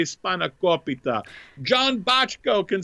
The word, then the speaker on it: spanakopita: And he yesterday was asking me how to pronounce spanakopita. Spanakopita. Oh, okay. So and and he said, is it spanakopita? Is it spanakopita? Spankopedia is what he said.